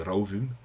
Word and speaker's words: rofum: Voilà, je rappelle que le F en islandais, quand il est entre deux voyelles, ça se prononce comme un V, donc c'est rauvum.